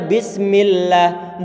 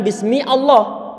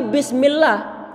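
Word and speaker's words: بسم الله: Sehingga kita baca bismillah, bukan bismi Allah, tapi bismillah.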